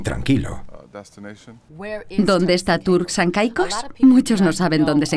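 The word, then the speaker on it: Turks and Caicos: y tranquilo Dónde está turk San cicos muchos no saben dónde se encuentran estas Islas y no lo pronuncian Bien dicen turqu torki koki pero estamos a 1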